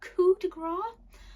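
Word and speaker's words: Coup de Grâce: I pronounced this wrong when I've talked about this book on my channel before, but it's Coup de Grace by Sophia Adram. Sorry about my pronunciation.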